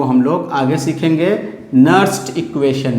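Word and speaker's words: Nernst: इसके कैलकुलेशन को हम लोग आगे सीखेंगे नर्स्ड इक्वेशन में। नर्स्ड इक्वेशन इसके लिए हम लोग आगे पढ़ेंगे। समटाइम्स इसको नर्नेस्ट इक्वेशन भी कुछ लोग प्रोनाउंस करते हैं, कोई हर्ज नहीं है उससे।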